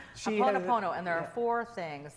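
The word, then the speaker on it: Hoʻoponopono: Ho'oponopono. Ho'oponopono. Wait till you see how it's spelled. Ho'oponopono and there are four things that that's that kind of stands for.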